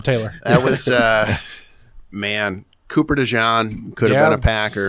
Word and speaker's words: DeJean: Cooper DeJean could have been a Packer. Yeah, I know. I don't know how you say it. It's Dijon. Cooper DeJean, Dijon mustard.